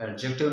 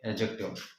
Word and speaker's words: adjective: जब हम इससे लिखते हैं तो हम एडजेक्टिव लिखते हैं, लेकिन जब हम इससे पढ़ेंगे तो एडजेक्टिव नहीं पढ़ेंगे बल्कि एडजेक्टिव पढ़ेंगे। डी यहाँ पे साइलेंट करके पढ़ेंगे एडजेक्टिव।